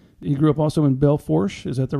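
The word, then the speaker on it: Belle Fourche: He grew up also in Belfort. Is that the right way to say that? I always say the rednecks around here pronounce it Belfouche.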